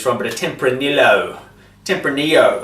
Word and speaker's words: Tempranillo: Tempranillo. I think it's silent. It's pronounced with a silent L.